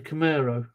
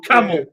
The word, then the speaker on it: Camaro: yeah that's five points you pronounced it wrong you said camera or camel nobody know or a